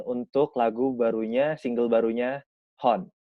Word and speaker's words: Honne: Nah, lu tuh waktu itu ngebikin aransemen untuk lagu barunya, single barunya Hon. Bener nggak nih gue pronounce-nya? Hon. Iya. Itu yang pertama adalah betul.